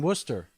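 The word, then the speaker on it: Wooster: In Worcester.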